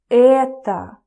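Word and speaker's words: это: in a minute so in Russian you say Etta oh okay Etta Etta I don't know dude I hate doing the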